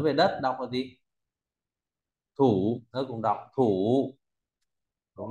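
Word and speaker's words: 土: Rồi, tiếp theo ta có bộ thổ, nói về đất đọc là gì? Thủ.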